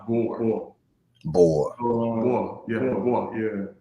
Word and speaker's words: Gbor: It's actually pronounced Bor.